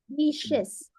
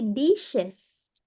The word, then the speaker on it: dishes: I was the the Dis I wash the dishes wash the dishes dishes bu bukan Dis tapi dises dises pakai y ya dises ya Oh